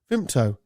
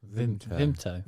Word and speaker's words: Vimto: Why would there be a P in it? Well, he tried to catch me out, and I was a good few beers in at this point. Yeah, so you say it like as well. No, I don't. VIMPTO. Yeah, you're saying a P.